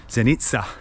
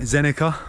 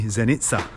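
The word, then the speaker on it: Zenica: staying at a hotel in the city of zenitsa zenitsa I was calling it xenica on my video blog of the area because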